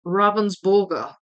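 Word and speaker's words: Ravensburger: Well, burger will be more like borger in German. Well, true. Yeah, that's true. I wouldn't say Ravensborg and and just suddenly adopt a German accent for that one word. Um, I just say Ravensburgger.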